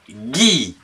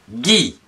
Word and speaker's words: gui: Le gui. G UI, Guy.